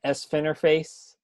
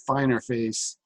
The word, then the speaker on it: Sfinerface: I'm Sfinerface, SFINERFACE. Oh, I've been pronouncing it Finer Face. Well, that's my fault because my name doesn't have two N's in it. So Yeah. if it was FINN, then but whatever.